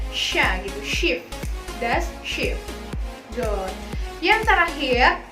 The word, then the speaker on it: Schiff: SCH kalau berdampingan, saling berdampingan, maka diucapkan sh. Nah, kayak huruf sya ya, sh gitu. Contohnya adalah das Schiff.